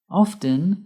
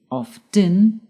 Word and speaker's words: often: Often can be pronounced two ways. By pronouncing the t often or by not pronouncing the t often.